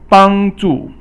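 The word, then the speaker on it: 帮助: 帮助 means to help someone. 帮 is first tone, and then 助 is fourth tone.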